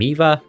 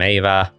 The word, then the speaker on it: Eva: Sometimes I say Madam Eva, sometimes I say Madam Eva.